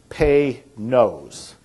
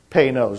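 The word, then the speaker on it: Panoz: to pronounce it right it's pay knows pay no's like p-a-y and then n o s e p nose is how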